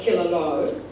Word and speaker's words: Killaloe: spelled Killaloe, like this, K-I-L-L-A-L-O-E, and the newer locals call it Killaloe, but the older residents call it Killaloe because that's the way it was pronounced in Ireland where the name came from.